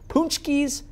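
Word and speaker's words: pączki: Punchki.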